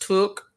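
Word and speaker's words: tuque: It's pronounced took, like look.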